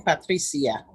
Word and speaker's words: Patricia: And just for the record, for everyone, she pronounces her name Patricia.